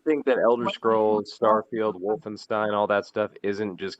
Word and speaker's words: Wolfenstein: yeah it's it's the it's like the german pronunciation wolfenstein i just want to